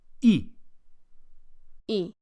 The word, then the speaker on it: y: por favor the word for and and is e so how do you say a coffee and